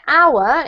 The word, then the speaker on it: hour: And also this one here, hour, is has a silent h.